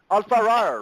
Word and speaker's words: Allfaaraa: Maybe it was you, Allfaaraa, okay, who said, she never pronounced your name right. She didn't. Allfaaraa, right?